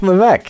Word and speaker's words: Levesque: Levesque is Levesque. Oh, it's Levesque. It's easy. I know there's like a bunch of stuff in there you don't need to pronounce, but it's easy.